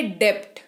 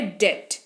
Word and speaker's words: debt: अच्छा, अगला शब्द DEBT। इसको अगर उच्चारण, यहां पे उच्चारण को भूल जाएं और सिर्फ स्पेलिंग की बात करें तो ये होता है डेप्ट। क्या होता है? डेप्ट। लेकिन जो इसका सही उच्चारण है वो है डेट।